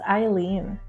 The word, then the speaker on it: Aileen: It's Aileen. Aileen. Yeah. So most people actually get it wrong because it's spelled the German way.